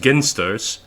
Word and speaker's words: Ginsters: the the pasties company I know that it's pronounced ginsters I refuse to call it that because it